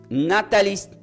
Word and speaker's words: natalis: de Cristo ahí nace la Navidad se como natalis ch Navidad de Cristo así se pronuncia n a t a L i s